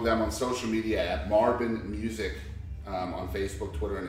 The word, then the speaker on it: Marbin: but band sometimes is Marvin music van sometimes it's Marvin and XM a RBI n B as in boy rhymes with Marvin Google it's there and